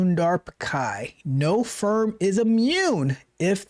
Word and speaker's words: Pichai: It's not Pichai. It is Pichai.